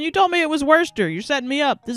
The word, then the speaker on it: Worcester: I live up in Massachusetts, so hearing people mispronounce worester makes me feel weird. Take a break, maybe." All right, Worcester. Helen, you told me it was worester.